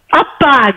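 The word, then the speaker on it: அப்பா: Appa, good. Up and then pa. Appa. Okay, up and ah made pa. This ah is making up move. So together, appa. Appa. Two syllable.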